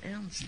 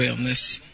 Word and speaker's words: Ernst: Il y a un peintre qui s'appelle Ernst. Je sais pas. Comment ça s'écrit ton nom? E-R-N-S-T. Ah, Ernest. J'ai compris. Ernst. E-R-N-S-T, ça se prononce Ernst. Ouais. Pas Ernest.